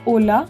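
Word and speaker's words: hola: English also you know we have some letter silent in a particular word so in Ola also H is silent so we pronounce it as Ola however when we write it it's h o l a okay and then how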